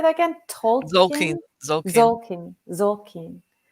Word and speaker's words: Tzolkin: Zolkin, Tolkien? Zolkin. Zolkin. Zolkin. It's Tzolkin.